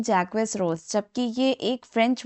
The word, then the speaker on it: Jacques: और ये जैक्वस नहीं है। एक्चुअल में यहां से क्वेस क्या होता है? आपका साइलेंट होता है। और जे को हम लोग फ्रेंच में जेड की तरह प्रोनाउंस किया प्रोनाउंस करते हैं। यानी कि जैक और यह हमारा क्या है?